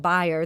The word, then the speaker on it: Bayer: And as they're referring to in that clip from the film, when they talk about Bayer, that's actually the correct German pronunciation of Bayer, which now owns our local company Monsanto.